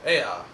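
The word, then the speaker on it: Eä: It was because of their love of, how do you pronounce it? Ea. Ea.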